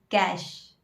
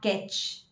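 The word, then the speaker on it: cache: So we pronounce it as cash. Not that cash, but yes, the pronunciation is same. Cash, not catch. It's cash.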